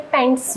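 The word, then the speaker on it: paint: एक वर्ड है पेंट, pronunciation बहुत डिफरेंट है। पैंट्स और पेंट, इसमें आप ए को थोड़ा तीखा बोलते हैं, लार्ज साउंड देते हैं आप।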